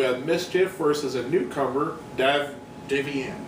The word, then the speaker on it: Davey Ann: We have Mischief versus a newcomer, Davey Ann. Davey Ann, that's how you pronounce it.